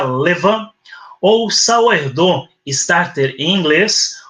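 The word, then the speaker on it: levain: então chamada Leví né fermento em francês que se pronuncia Levan ou saer Starter em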